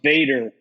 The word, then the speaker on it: Vader: know it it's pronounced Vader it's pronounced Vader proun Vader yeah yeah it's dutch for Father F what's a ferger